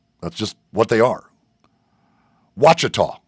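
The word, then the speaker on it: Ouachita: Watchah, that's how it's pronounced. I knew it was something not the way it looked and I couldn't remember how to how to say it. So, Henderson State Watchah Baptist.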